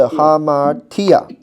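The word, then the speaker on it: ἁμαρτία: 有吧哈，就是哈哈。hamartia，哎，它的重音是在后面，你看到没有？所以你是 hamartia。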